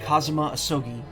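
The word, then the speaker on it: Kazuma Asogi: it's my best friend's name not mine it's pronounced kazuma ahsogi i actually believe this armband in some way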